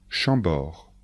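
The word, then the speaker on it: Chambord: de Château répétez après moi attention de bien prononcer les noms de château répétez après moi chambor le château de chambor chambor le château de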